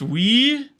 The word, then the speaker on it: oui: Not e, but oui. Oui, oui. It's pronounced we. We in French.